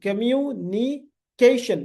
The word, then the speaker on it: communication: fourth third word देखो कम्यू कम्यू you long you कम्यू नी केशन केशन केशन नहीं है केशन शन ठीक है तो